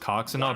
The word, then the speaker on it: Coxinha: Yeah, it looks like the name is pronounced Coxinha, but it looks kind of like a vagina.